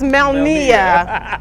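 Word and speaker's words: Melnea: It's not Melina. It's Melnia. But that's how you know a real Roxbury person, because we don't say it right.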